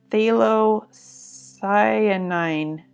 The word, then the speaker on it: phthalocyanine: Phthalo stands for, it is short for a word that's difficult to pronounce. Phthalocyanine or cyanine.